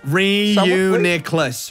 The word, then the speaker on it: Reuniclus: I feel like Reuniclus. Say it again. I was gonna let you go. Reuniclus. Reuniclus. Reuniclus. GameboyLuke. Like you're reusing something.